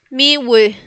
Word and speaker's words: miły: Miwe. Miwe. Miwe. ¿Ok? Miwe. Recordemos que la L con palito se pronuncia ue.